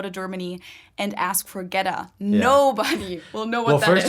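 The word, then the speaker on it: goetta: germany and ask for ghetto nobody well no well first of all so i was gonna say it's spelled g-o-e-t-t-a which a german would not pronounce as ghetto no uh we would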